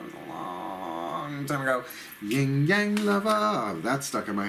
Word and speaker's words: Yin Yang: Number 8, Yin Yang. That's the correct pronunciation.